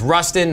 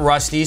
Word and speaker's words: Rustin: And it's Rustin, not Rusty, so nobody should pull up.